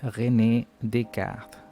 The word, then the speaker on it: René Descartes: y también René Descartes, que cariñosamente en francés se pronuncia René Descartes. Pero bueno, Descartes para todo el mundo.